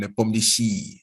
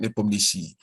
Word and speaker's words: Nepomniachtchi: And Kasparov told me they pronounce his name Nepomniachtchi. We in the West say Nepomniachtchi, they call it Nepomniachtchi.